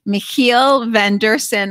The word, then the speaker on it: Michiel van Deursen: a very important investor, Michiel van Deursen. I am trying so hard to pronounce that right. Michiel, thanks for being with us. Thank you. You pronounce it perfectly, like a Dutch person.